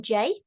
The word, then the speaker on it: Jay: So I am Jay, it's just pronounced like the letter J.